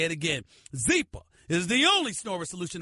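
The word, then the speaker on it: Zyppah: Zeepa is pronounced Zeepa. It's spelled Z-Y-P-P-A-H. It's easy to remember because Zeepa is happy Z spelled backwards.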